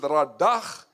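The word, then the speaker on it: רדה: You pronounce it radach, meaning, listen carefully, to rule, to subdue, to tread down.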